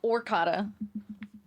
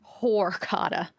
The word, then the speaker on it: horchata: Not even orcata. Horchata.